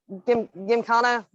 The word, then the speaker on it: gymkhana: It's pronounced gymkhana.